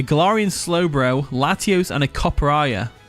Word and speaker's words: Copperajah: They've got a Sinistra, a Galarian Slowbro, Latios, and a Copperajah. Is it Copperaja or Copperajah? How do you say it? Copperajah. Copperajah, right, okay.